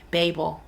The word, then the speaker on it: Babel: But yeah, I'm really enjoying Babel. Excuse me, Babel. Let me say it like they say in the book.